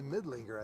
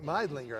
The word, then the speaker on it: Meidlinger: Americans look like they're going to make a pitching change, and that's going to be Maggie Midlinger, I think, coming. Meidlinger, I believe it's pronounced.